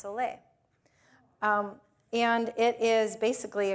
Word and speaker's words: sole: had i s o l e but it's pronounced soay um and it is basically a combination of